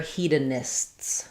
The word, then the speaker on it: hedonists: Yes, so they're hedonists. So we just add another S, which is actually not that easy. So hedonist, you can hear I have the S and T.